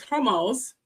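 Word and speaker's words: Hormuz: Now, these facilities along with the crucial strat of the hormones, which is spelled H O H O R M U Z. So, it's hormones.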